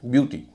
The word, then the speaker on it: beauty: जैसे ब्यूटी, BEAUTY, ब्यूटी में EAU का उच्चारण हो रहा है ऊ, इसे बोला जा रहा है यू, ब्यूटी।